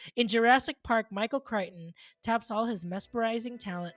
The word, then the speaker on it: Crichton: Is that how you pronounce his last name? Yes, Okay. Crichton.